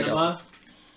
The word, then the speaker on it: Anima: Anima with an A, like an anima.